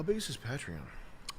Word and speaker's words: Patreon: I call it the wrong I call it I sound like I just criticized you and I say it wrong because it's patron.